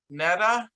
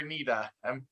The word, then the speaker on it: Neda: Next up is Neda. Did I pronounce that right? Or Nida? Yes, that's Neda. That's perfect. Thanks for pronouncing it right the first time.